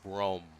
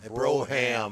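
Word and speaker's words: Brougham: an 86 cutlass supreme brome white with red plush velvety you really need to learn how to pronounce it it's called a broham broham bro yes but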